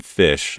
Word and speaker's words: Pysh: highly encourage you to look up Preston Fish. It's spelled Pysh, hours worth of content.